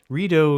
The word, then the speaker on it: Rideau: The name of the canal is the French word for drapes or curtains, which is pronounced rideau, the rideau canal. But Americans would often pronounce it the Rideau Canal, which was extremely amusing to me at all times.